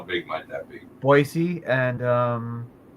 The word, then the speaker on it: Boise: Oh, but there's no Z in it.